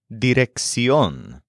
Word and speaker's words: dirección: Next, we have the word dirección, spelled D-I-R-E-C-C-I-O-N, with an accent on the O. Dirección.